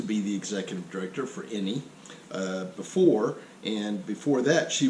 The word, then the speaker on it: INIE: I don't know if is that the right way to pronounce it? INIE? Okay, good. Not howdy, but INIE.